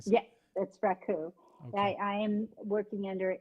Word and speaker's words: raku: Yeah, that's raku.